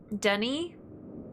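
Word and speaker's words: D'ni: Dunny is spelled D''Ni.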